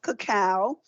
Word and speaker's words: cacao: your coconut oil now I said it's 70 cacao and some people say cocoa and but it's pronounced cacao and that's when it is a real dark